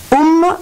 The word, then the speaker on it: Om: Je vais vous communiquer une petite chronique de monsieur Bruno Roche-Péris sur les secrets et significations du symbole bouddhisme Om, qui s'écrit A-U-M. Om, la syllabe qui renfermait tous les secrets de l'univers.